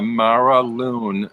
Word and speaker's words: Mara Lunne: confusing at first because it's spelled Lunne, and I wasn't sure if it was the Mara Lunne, but I think I saw through another walkthrough it's pronounced the Mara Lune.